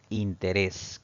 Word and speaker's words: interés: debe llevar tilde correcto interés que está en el inciso c la palabra interés debe llevar tilde porque la mayor fuerza de voz recae en la última sílaba contando siempre de derecha